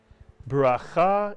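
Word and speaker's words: ברכה: Can you read the first syllable of this word? It's a word you know. Bira is correct. Mitsuyan. Bira. And the second syllable? Cha. Mitsuyan. Put the word together. Bracha is correct.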